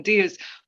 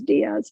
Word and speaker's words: Diaz: So I've been reading Trust by Hernan Diaz, but I'll give you which won the Pulitzer last year.